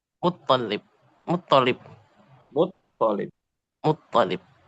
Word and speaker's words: مطلب: Muttalib. مطلب. Nah, lamnya nggak ditasydid ya. Ya, Bukan ya, Muttalib.